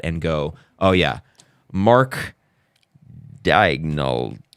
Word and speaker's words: Daigneault: team like that and go, oh yeah, Mark Daigneault. Dagenhalt. Thank you. Yeah, I've always mispronounced it.